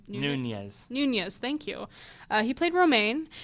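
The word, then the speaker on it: Nuñez: Nunez, thank you.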